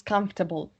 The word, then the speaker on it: comfortable: is the most comfortable be careful with a with the pronunciation of comfortable okay which is not comfortably or some uncomfortable it's comfortable three I'm gonna make